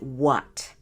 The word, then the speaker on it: WAT: I call it WAT, W.A.T, and I pronounce it what.